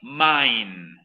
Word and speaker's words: mine: me mine exacto se escribe vine pero se pronuncia como bien dijo compañero main by design estas son míos es lo mismo